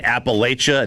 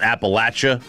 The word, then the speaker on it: Appalachia: If you say if you pronounce the mountains in the east wrong, if you say Appalachia, not Appalachia, I know you're not from the south.